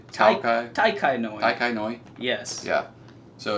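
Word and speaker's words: Tao Kae Noi: It's Jiao Kai Noi. Can you pronounce that? I'm thinking it's a T. Oh, is that a T, not a J? Tai Kai Noi.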